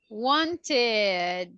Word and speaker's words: wanted: in the same okay pronounce it please wanted that's correct ending in a t sound perfect uh-huh another one